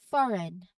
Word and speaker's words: foreign: If you see GN together at either at the start or at the end of a word, the G is almost certainly silent. So this rule will help you avoid mispronunciations and sound more natural when speaking these words.